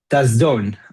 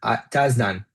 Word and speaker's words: Tasdan: And today I'm with Tazdon Tazdan. Yes, I pronounced it okay.